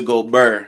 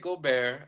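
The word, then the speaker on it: Gobert: Now we going to pronounce his name right. I now got to call him Rudy Gobear. I will no longer I will no longer call him Rudy Gobar.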